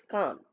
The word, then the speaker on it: Cannes: It is written as with S but pronounced as Cannes.